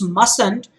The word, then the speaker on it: mustn't: The pronunciation is mustn't, but the spelling is MUSTN apostrophe T, and it is not MUSN apostrophe T the way it sounds.